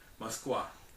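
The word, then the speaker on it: Москва: Okay, Moskva is said in Russian.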